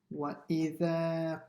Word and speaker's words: وَإِذَا: The hamza has to be pronounced from the bottom of the throat. وَإِذَا. وَإِذَا. Say the I a bit sharper. وَإِذَا.